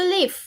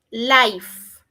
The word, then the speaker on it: live: Where do you live? ¿En dónde vives? Entonces pueden escribir I live in bagué. Ojo con la pronunciación porque muchos pronuncian life, esa es otra palabra.